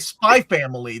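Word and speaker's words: Spy × Family: That's cuz I think of like spy family. They throw an X's by family, but it's the X is silent.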